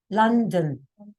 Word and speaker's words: London: A lot of people say London with an O. Oh, it's not O, it's A. London.